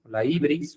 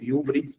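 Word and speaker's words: hybris: Sin embargo, aquí existe otra cosa, la ibris, o iubris, como se pronuncia, introduce una tensión importante.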